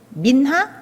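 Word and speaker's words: מנחה: 드리는 건데이 소재가 특별하게 뭐 히브리 언어 상에는 민하 되게 발음이 예쁘죠 한국 발음으로 민하랍니다 근데 이게 뭐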